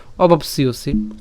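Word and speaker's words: অবাপ্স্যসি: এখানে জফলার উচ্চারণটা কী হবে, ইয় হবে, তাই না। তাহলে সিওসি একসাথে, তাহলে পাপম অবাপসিওসি, পাপম অবাপসিওসি।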